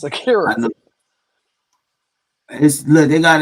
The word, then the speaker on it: Akira: 1961 samurai film directed by Akira Kurosawa, who also co-wrote the screenplay. Wow, this guy is a beast, man. Bro, I why did you not. keep saying Akiri? It's Akira.